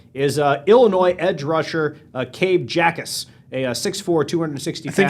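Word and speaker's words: Jacas: here to find, let's see, Bleacher Report second-round pick is Illinois edge rusher Cabe Jackus, a 6'4", 260 I think pounds. it's pronounced Ackus. Ackus. Cabe. Yeah, the J is silent.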